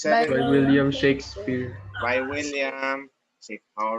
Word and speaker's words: Shakespeare: how to read that shakespear so yung mga fast grade 9 stupid they do not know how to pronounce this they are pronouncing this as William shakespear William shakes my God and I was